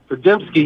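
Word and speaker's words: Podziemski: Pajemski, yeah.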